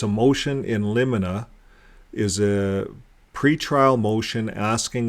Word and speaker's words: in limine: it right let's go to the pron proper pronunciation okay let's see how we say it in get that in in in liina in in liina in Li in liina now this word means uh at uh in